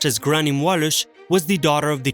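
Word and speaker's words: Gráinne Mhaol: rules gray Somali in English or in Irish pronounced as grannymwalis was the daughter of the chief of the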